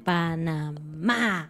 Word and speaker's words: Panamá: el primero ciudad de panamá y recuerden el acento va en la última y no en la primera ciudad del pana más así como lo escribió